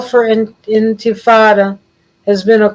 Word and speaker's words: intifada: The word intifada, Arabic, intifada, it's pronounced basically the same, means quote unquote resistance.